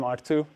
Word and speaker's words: Ertugrul: And uh if you ask this robot is it's kind of a clue how you can pronounce my name R2.